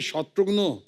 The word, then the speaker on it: शत्रुघ्न: मिसाल के तौर पे मेरे बंगाली फ्रेंड अभी तो मुझे कहते हैं कि अरे शत्रुग्नो कैमोनाशी शत्रुग्नो डॉक्टर नो का भाई बना दिया है।